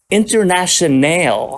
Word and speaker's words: Internationale: set was a cb700 Internationale and I say it like that because it wasn't spelled International it spelled like a i l e at the end so I guess it's